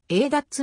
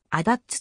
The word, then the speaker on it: ADATS: 軍ツリーに登場略症としては a 立つもしくはあ立つと発音されるありがとうございます